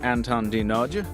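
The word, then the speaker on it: Anton D. Nagy: Anton is at Anton Dinoj. And ANTONDNAGY is how that's spelled, by the way.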